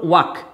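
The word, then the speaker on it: walk: যেমন ধরো ওয়াক, এই দেখো একটা এ তারপরে কে, তাহলে এল এর পরে কে আর এল এর আগে এ, তার জন্য কিন্তু এখানে এল এর উচ্চারণ হবে না।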